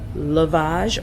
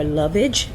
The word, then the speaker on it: lovage: My next one that I have is uh lavage or lovage. I've heard it pronounced both ways.